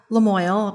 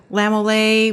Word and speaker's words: Lamoille: We get a lot of, most people that are coming through here cannot say Lamoille. We get a Lamole, we get different pronunciations, that kind of thing.